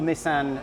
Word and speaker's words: Nissan: okay why yeah well i'll tell you seb's car is number 23 which all nissan factory cars run at the number 23 traditionally